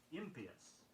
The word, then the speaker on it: impious: Be sure you get the stress on the right syllable on impious.